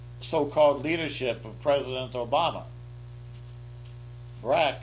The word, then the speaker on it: Barack: Barack, whose name rhymes with hijack, hijacked our government, at least for the time being.